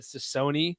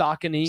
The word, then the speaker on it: Saucony: You said Sassoni. How was it? Saucony. Saucony. I didn't. I wasn't sure. Sassoni. I said Sassani. I don't know how to say it. Yeah, somebody says it's Saucony, Rico, not Sassani, or however the hell you pronounce it.